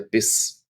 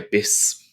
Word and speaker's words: Biss: In the next one, we have a short vowel sound, der Biss, der Biss. And it's spelt with two S's.